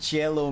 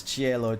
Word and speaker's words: cielo: I wonder if Cielo means Sky. Hold on a second. What is Cielo? Cielo meaning. Oh, sweet lord. Cielo is Spanish and Italian for sky.